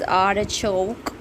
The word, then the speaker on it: artichoke: This word is artichoke, and R is silent, artichoke in British. Artichoke. Artichoke, no, artichoke.